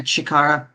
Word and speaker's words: Chikara: Because aside from like Fuko, Andy, Tatiana, and Chikara, is that how you pronounce his name? Unmove? Yeah, Chikara, you got it.